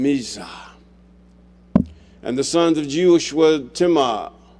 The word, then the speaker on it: Jeush: And the sons of Jeush were Timah, or Euish, or Yeush. Sometimes they change the name because they can't pronounce it themselves. And Alva and Jeheth. It should be Yetheth, or something to that effect. The J wasn't there at that time.